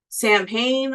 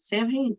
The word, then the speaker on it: Samhain: going to talk about Sam Han also known as Sam lean Sam you know but we're going to pronounce the way L says it Sam hayy the Band The Band